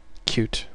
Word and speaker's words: Qt: It's called cute. It's spelled QT, but it's pronounced cute.